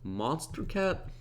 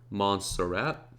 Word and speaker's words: Montserrat: And because Ski World, the actual font of this, already uses, I believe, Monster Cat? I can never say it right. Montserrat.